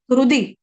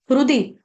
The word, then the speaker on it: हृदि: सर्वस्य, स्य, स्य, सर्वस्य, चाहम, चाहम, हृदि, हृदि, हृदि का ह जो है ना, ये साइलेंट है। इसको हृदि या हरुदि ऐसे नहीं पढ़ेंगे।